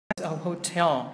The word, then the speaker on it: hotel: Tuy nhiên thì các em chú ý cho anh cái từ hotel này về phát âm nhá. Tại vì cái từ này trọng âm nó sẽ rơi âm thứ 2, hotel trọng âm số 2, được chưa?